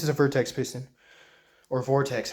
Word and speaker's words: Vertex: This is a Vertex piston, or Vortex, how you pronounce it. Yeah, Vertex.